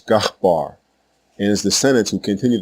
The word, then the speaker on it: Eber: Thus the name of the man who left the tower of Babel still speaking the one language was not Eber or Hebber. His actual name was Gahbar and his descendants who continued to speak this language were called Gabarim plural.